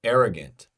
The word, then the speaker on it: arrogant: what's next forgetful or arrogant arrogant arrogant a a arrogant that's the stress syllable uh forgetful get forgetful